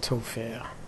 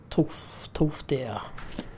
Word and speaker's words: Tolfdir: So, let's go and find Tolfir, whatever his name is. What's his name? At least pronounce it right. Tolfdir.